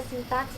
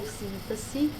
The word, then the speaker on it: sintaxe: E a sintaxe ou síntese, porque pode ter essas duas pronúncias, dependendo do local.